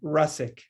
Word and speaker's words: Rusczyk: there's so much here how do i say my last name russik it's a lot easier than it looks although i've had polish